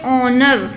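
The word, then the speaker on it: honour: आवाज आ रही है ऑनर ओ ओ से आवाज आ रही है एच इसका साइलेंट है तो करेक्ट ऑप्शन हमारा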